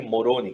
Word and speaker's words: Moroni: um filho chamado Moroni Moroni acho que morôni que pronuncia e Moroni agora O Senhor